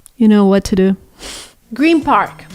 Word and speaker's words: Green Park: Green Park. It's Green Park. It's not Green Park the way it's pronounced.